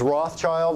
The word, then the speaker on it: Rothschild: It's Rothschild. There's a silent S between the Roth and the child.